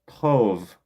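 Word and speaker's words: טוב: But in the Hebrew, it's going to be this tov, right? It's going to look like tob, but you're going to pronounce tov, right?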